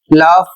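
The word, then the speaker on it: laugh: अगला शब्द है एल ए यू जी एच लाव। इसका अर्थ होता है हंसना। यहां पर जी एच का उच्चारण किया जा रहा है फ के रूप में।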